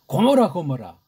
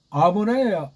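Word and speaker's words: עמורה: 고모라. 그 고모라의 기역이 원문으로 아인자잖아요. 이거 발음 못하니까 서양 아이들이 나중에 은근슬쩍 바꿔서 표기까지도 그냥 라틴 문자로 고모라 하니까 우리나라 뭐 소돔과 고모라. 아모라예요. 아모라.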